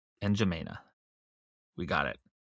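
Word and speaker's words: N'Djamena: Fort Lame called NJina since 1973 is the capital city of Chad.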